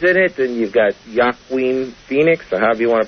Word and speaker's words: Joaquin: And, of course, Mel Gibson's in it, and you've got Joaquin Phoenix, or however you want to pronounce his first name. You've got a Culkin in it. I'm sure it's not Joaquin.